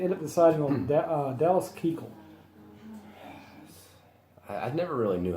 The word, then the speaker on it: Keuchel: Is the K silent? The K is silent. Oh, like euchre. It's like euchel.